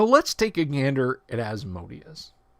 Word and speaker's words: Asmodeus: So let's take a gander at Asmodius. Although Adam says technically it's Asmodeus. I've been saying Asmodius since I was 12 years old, so I'm just going to stick to that.